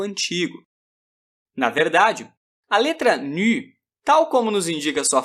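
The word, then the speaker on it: νῦ: Tal como o seu antecessor, o nu é uma letrinha cujo nome é pronunciado com o biquinho. Se ainda não for capaz de proferi-lo, não se preocupe. Diga simplesmente ni.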